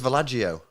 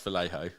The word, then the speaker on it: Vallejo: say something really stupid then I thought it's vagio no it's Vallejo Brandon two pound vanguard's